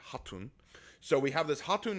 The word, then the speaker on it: Khatun: I know it says katun but in the Mongolian the K is silent it would be haton so we have this